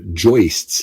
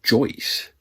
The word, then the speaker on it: joist: uh the wood uh joists as they are called and you know I just learned that that's pronounced joist like hoist I always thought it was Joyce you know I thought